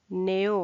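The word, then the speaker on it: know: चूंकि इसकी उत्पत्ति कैनो से हुई है इसलिए के अभी भी लिखते हैं परंतु के उसका उच्चारण नहीं करते हैं लिखते हैं नो किंतु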